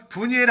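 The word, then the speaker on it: 브니엘: 여기 바누엘이라는 것은 원래 히브리식 발음으로는 분이엘입니다. 여러분 분이엘 하면 알죠?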